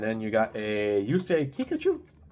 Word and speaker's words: Kikuchi: And then you got a Yusei Kikuchi. Sounds like Pikachu, but Kikuchi.